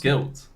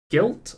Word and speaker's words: GYLT: Sorry, Guilt. Guilt, I guess is how you pronounce it.